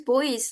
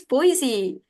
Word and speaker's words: Boise: I just say it like, "Where's boys? Like boys? Are you going with boys like the kids? Like boys?" They're like, "No, no, boys." I'll tell you like that. Like I'm just showing my ticket to them. Oh, it's Boise.